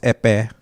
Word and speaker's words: Ekpeye: And the language we speak, my tribe speaks, is Epe. Epe. Epe? Not even close. Yeah. It's spelled Ekpeye, and you got to kind of bath the Epe.